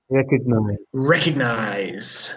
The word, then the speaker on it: recognize: do you pronounce it recognize that g is very soft it very softly recognized or nice or nice nice even it's almost like wrecking almost like recognize yep we do have